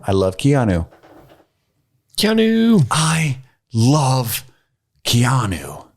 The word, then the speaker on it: Keanu: love keanu i love keanu i believe it's kinu yeah it's pronounced kinu i know how to write comic books i was waiting for your keanu impersonation i was just